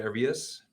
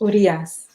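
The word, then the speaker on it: Urías: Arias? Is it Arias? Urias.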